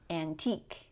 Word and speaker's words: antique: And next we have technique, unique, antique. These sound like eek.